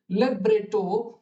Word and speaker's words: libretto: So 13 मध्ये libretto is pronounced libretto, libretti is libretti, libretti, concerto is concerto, and concerti is concerti, right?